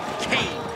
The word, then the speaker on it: Kane: so it's zeroo Kane rhymes with pain and Kane will beat